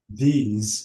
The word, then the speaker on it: these: Because here the S is not S. It is Z. These these and we have long E and those those we have long these those.